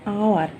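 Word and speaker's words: hour: तापर देला आवर, Etah H silent रोचे तो आर प्रोनाउंसिएशन हो जाउची आवर।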